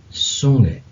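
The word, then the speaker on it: Zunge: दी सुंगे, ये जेड जो होता है एस की आवाज देता है, इसलिए इसको पढ़ेंगे सुंगे. दी टंग, जबान.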